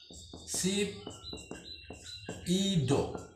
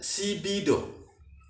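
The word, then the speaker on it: 십도: Maka 12 derajat itu 12 derajat, maka ngomongnya sip ido. Sip ido atau dibacanya sibido.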